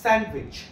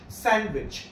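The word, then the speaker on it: sandwich: এইচ স্যান্ডউইচ তাইতো না এই ডিটা ব্র্যাকেটে ডি উচ্চারণ হবে না স্যান্ডউইচ স্যান্ডউইচ স্যান্ডউইচ সবার শেষে পি আই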